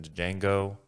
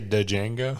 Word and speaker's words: Django: Leonardo DiCaprio was in Django with Samuel Jackson. Did you say Django? I did. Yeah. The D is silent.